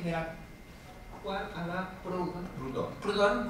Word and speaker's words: Proudhon: Proudhon como si pronuncia realmente.